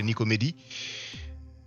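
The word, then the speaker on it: Nicomédie: I'm not sure if you pronounce it Nicomedia in English, but in French we say Nicomedie.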